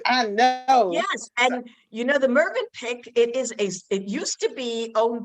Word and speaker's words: Mövenpick: How do you pronounce it? The movie Mövenpick. Yes, Mövenpick.